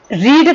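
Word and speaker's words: read: रीड का second form रीड ही होता है, लेकिन इसका प्रोनाउंसिएशन होता है रेड.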